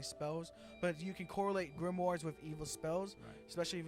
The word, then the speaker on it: grimoire: gonna spell like a demon demonic dog okay g-r-i-m-o-i-r-e I'm gonna pronounce it grimoire it's grimoire okay grimoires are usually tend especially